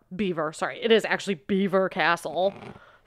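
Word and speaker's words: Belvoir: to tell you guys there's a castle in England called beaver and it's spelled bis French belois um inin may or may not have lived there it doesn't really matter but it's not heever Castle middle Temple now we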